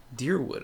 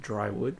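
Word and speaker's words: Dyrwood: Deerwood, okay. I've been pronouncing it Drywood, but...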